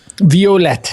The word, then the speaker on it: Violette: Okay, Harold and Violet, I believe, correct? Violette, a little more French and a little more fancy.